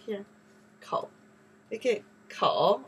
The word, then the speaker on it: 口: Kou.